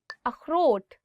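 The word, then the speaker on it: اخروٹ: अखरोट, walnut. अखरोट. So this word khe, it also comes from your, I would say like throat. So you'll really have to do is like अखरोट.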